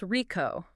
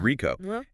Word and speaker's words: RICO: It's about R IO and it's pronounced RICO. It is RICO and it's about the critical legal difference between who pays the bill and who actually owns the claim.